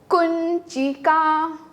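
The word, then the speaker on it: कुञ्चिका: उच्चारण में it will be like कुंचिका।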